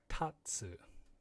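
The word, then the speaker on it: 竜: a you not ryu and it's a tatsu t-a-t-s-u tatsu tetsu means metal the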